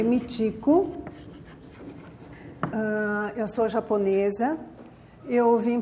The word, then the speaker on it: Michiko: Isso também se lê Michiko.